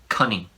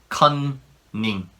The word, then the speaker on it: cunning: a test, that is cunning. The pronunciation is different. Cunning. Cunning. When there's two N's in one word, Koreans tend to pronounce it like all the N's in each syllable.